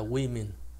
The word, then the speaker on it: women: thành số nhiều đó thì nó lại là âm y, là women, hai âm y hết nha, women chứ không phải